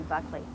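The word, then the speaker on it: Buchele: like to be identified Buckley it's uh spelled b u c h e l e but it's pronounced in this country Buckley I'm an all breed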